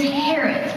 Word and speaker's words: Harriet: The name's Harriet, pronounced without the I. The I is silent.